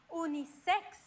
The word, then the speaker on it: unisex: X, K plus S. X. Por ejemplo, clímax, unisex o relax.